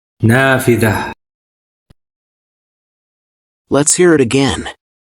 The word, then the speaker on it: نافذة: Here we see tied T appears at the end of a feminine singular word and is pronounced as an H sound in English, since it's at the end of a word and no suffix follows it.